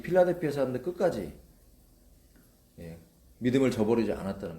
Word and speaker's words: 필라델피아: 오늘부터는 빌라델비아라고 하지 맙시다. 이미지가 너무 나빠져서 필라델피아, 필라델피아 교회, 그리고 필라델피아 성도, 그런 영성을 가지신 저와 여러분 되기를 바랍니다.